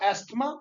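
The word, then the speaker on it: asthma: पहली बात तो एस्थमा, या इसको एजमा भी बोलते हैं, ठीक है। आपके प्रोनाउंसिएशन पे, आपके डिक्शन पे डिपेंड करता है कि आप कैसे क्या इसको बोलते हैं, एजमा या एस्थमा।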